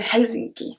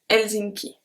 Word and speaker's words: Helsinki: So we don't pronounce the H. We don't say Helsinki. We say Helsinki.